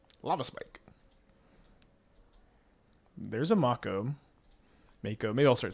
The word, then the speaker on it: Mako: Please, Mako is the right pronunciation.